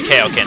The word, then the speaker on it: Kaioken: Kaioken is how it's supposed to be pronounced. Because, in the English show, I've heard that it's pronounced Kaioken, and that's what it's called.